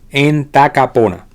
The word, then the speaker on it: Entacapona: Entacapona, así mismo se pronuncia, en tacapona.